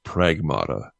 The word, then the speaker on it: Pragmata: I heard that it's actually supposed to be pronounced pragmata.